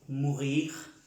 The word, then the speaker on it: mourir: Todos los verbos que terminan en IR se pronuncia la R.